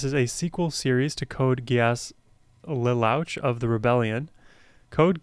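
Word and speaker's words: Code Geass: It's from an anime called Code Gas. That is how you pronounce that. Uh, Rose of the Recapture. This is a sequel series to Code Guas Louch of the Rebellion.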